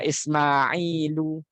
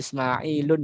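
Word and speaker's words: إسماعيلُ: Kemudian selanjutnya ada Ismailu. Ya, enggak boleh Ismailun, enggak boleh.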